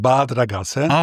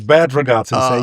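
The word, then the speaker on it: Bad Ragaz: and that is Yeah, that's called bad raat. Okay, that's a German pronunciation. Okay, but I still know that I came to United States for the first time in 1997. But he said, well, this is bad regata.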